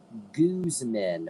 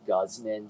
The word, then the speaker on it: Gooseman: Gooseman. Which I'm going to be honest, I went an embarrassingly long time pronouncing that as Guzman just because I never heard it spoken aloud.